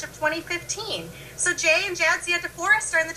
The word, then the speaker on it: Jadzia: which I think is funny sure um it's pronounced Jia yeah and um it's actually a Polish name